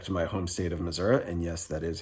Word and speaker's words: Missouri: I have left the state of Georgia back to my home state of Missouri, and yes, that is how it's pronounced.